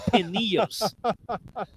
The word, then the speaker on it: Pinillos: He finally explained me how to say it, so I wrote it wrong in my notes. And it's Pinillos.